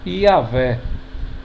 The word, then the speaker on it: Iavé: dos hebraístas seja a favor de Javé ou Iavé, que é I-A-H-W-E-H.